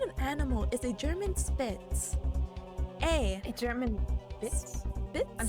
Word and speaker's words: Spitz: We don't say Spitz like that. We say Spitz with a sh. Oh, Spitz. Yeah. Ah. That's like at least the German pronunciation.